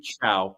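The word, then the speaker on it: Chao: David, how do you pronounce his last name again? I believe that's Chow.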